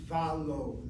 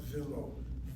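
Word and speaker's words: ולא: And then finally, we told you, if the vav is pointed before a word where the accent is the first syllable, the tendency is to point the vav with a kamatz. With a kamatz. Ke valo, not vilo. Valo.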